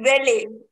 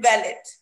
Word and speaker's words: valet: What we say, is it valet or valet? I have almost given you a clue about this. So see, let's see. The right word is valet. We should never pronounce it valet.